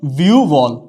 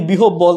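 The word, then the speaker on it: বিহ্বল: বলি জিহ্বা তাইলে হচ্ছে না উচ্চারণটা হচ্ছে যে ভিউবল উচ্চারণটা হচ্ছে কি ভিউ বল উচ্চারণটা কি হবে ভিউবল আমরা যদি বলি বিহব বল তাইলে কিন্তু হবে না এখানে ব ফলা যদি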